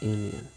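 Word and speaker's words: union: बट यहाँ पे देखिए ये यू से शुरू है ना, कॉन्सोनेंट से शुरू नहीं है, भवेल से शुरू है, भवेल से शुरू है। बट इसका जब उच्चारण करते हैं तो होता है यू। जो यह क्या है? ऑल्सो अ कॉन्सोनेंट, तो यहाँ क्या लग जाएगा? अ यूनियन।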